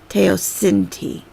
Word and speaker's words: teosinte: it says teh oh these capital letters tell me what part what syllable to emphasize sin T tayo sin T so I know I